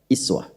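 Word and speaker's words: أسوة: Ini pakai u uswa tapi bisa juga dibaca dengan kasrah iswah nih. Jadi bisa uswah bisa is riwayat qalun warasy dari nafi itu dibacanya pakai i.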